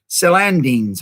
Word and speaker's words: celandines: Celandines, I think is how you pronounce that word, celandines.